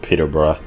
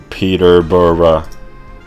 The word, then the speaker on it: Peterborough: you pronounce that i looked up how to pronounce it it's um peterborough peterborough so i was just walking around there